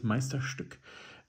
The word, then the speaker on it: Meisterstück: And the pronunciation is Meisterstück. I can say that because I am native to that language.